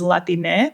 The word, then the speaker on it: Latine: So as a gender neutral format, we use Latine with an E at the end. Latine. Because it flows more in with our native Spanish tongue.